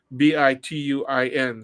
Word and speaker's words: Bituin: think it shows it's called In Between, but the between is spelled Bituin, so it's one of those double ententes that Oh, crosses the language line of Tagalog and English, ah.